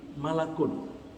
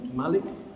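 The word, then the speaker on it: ملك: adalah almala'ah jamak dari malakul Jadi kalau malaikatnya satu tulisannya mirip dengan Malik kalau bacanya Malik artinya raja tapi kalau bacanya malak artinya malaikat satu kalau malaikat banyak malaikat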